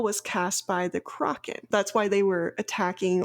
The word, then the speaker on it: Crochan: going to get it taken back is the Kraken.